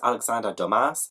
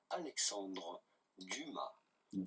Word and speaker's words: Alexandre Dumas: In French, in France, we would say Alexandre Dumas. Dumas. The S at the end is definitely silent, so do not say Dumas, but rather Dumas.